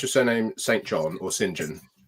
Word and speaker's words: St John: Is it Do you pronounce your surname St. John or Singen? Okay. So, we're pronouncing Singen.